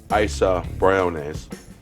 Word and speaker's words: Isa Briones: That's pronounced Dodge. Isa Briones.